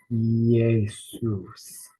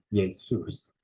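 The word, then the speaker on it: Ἰησοῦς: Now this can be a little difficult, this pronunciation. We have an iota and an eta. Yay, yay, Jesus, Jesus, Jesus, with the first syllable stressed. Jesus, meaning Jesus. Jesus. Actually, Jesus, pronounce that. We have that stress on the second syllable.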